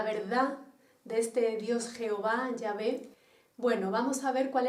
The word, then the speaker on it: Yahvé: YHWH, que lo pronunciamos nosotros como Yahvé, aunque realmente este nombre